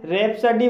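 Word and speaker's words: rhapsody: रैप्सडी, रैप्सडी भी आर एच से शुरू हुआ है इसलिए यहाँ पर साइलेंट है, इसलिए इसे रैप्सडी बोला जाएगा और रैप्सडी मीन्स होता है असंगवद काव्य।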